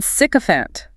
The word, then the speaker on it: sycophant: Then sycophant. Not a nice word, I suspect. Definitely not. Sycophant. Stress on the first syllable, sycophant.